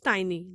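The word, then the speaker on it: tiny: बस एक बात का ध्यान रखिएगा, जब आप इसको प्रोनाउंस करें तो इसको टिनी मत बोलिएगा, इट इज टाइनी। The correct pronunciation is टाइनी।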